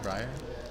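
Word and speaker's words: Briar: How do you say her last name? Breyer. Amber Breyer. Breyer.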